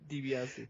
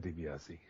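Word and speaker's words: DiBiase: the match up again Scott Steiner and Ted DBS it's Ted dbii George Sparrow it's Ted debiasi uh and Andrew sker it's Cott Steiner oh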